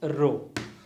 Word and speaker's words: rho: and volume so the density is referred by the letter greek alphabet rho it's kind of p so we will pronounce this as rho so the density into